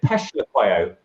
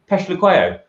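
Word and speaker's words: Phehlukwayo: So interestingly, if you listen to the likes of Pommy and Bangwa and the South African commentators, they pronounce it Peshlequayo, like it's P-E-S-H, Peshlequayo.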